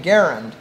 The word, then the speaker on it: Garand: say nice grand and i said well actually pronounce his name garend and at one point cooper says you keep